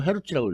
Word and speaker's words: 헤르츠: 마이너스 1승이 되는데 이걸 간단히 HZ를 쓰고 헤르츠라고 읽죠. 헤르츠.